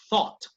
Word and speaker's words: thought: TH como Z española y la GH antes de la T no suena.